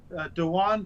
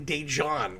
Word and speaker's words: Dejan: We discovered that it's actually Dejan. We now know the correct way to pronounce that guy's name.